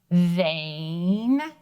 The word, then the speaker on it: vain: let's tap it out vain vain perfect vain let's sound it away so that E is silent but it tells the other vowel to say his name let's go ahead and